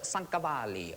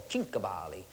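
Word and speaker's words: Cinquevalli: of the century called Paul sankali or chavali depends how you say it and he used to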